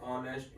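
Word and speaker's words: honest: Matters more than spelling, जैसे एन ऑनेस्ट मैन। अब आप देखेंगे ये स्टार्ट हो रहा है एच से, ऑनेस्ट वाला, बट इसका साउंड कैसे आएगा? इस तरह से आता है इसका साउंड। तो इसका साउंड स्टार्ट हुआ ओ से, इसलिए ये आएगा एन से। एच is silent.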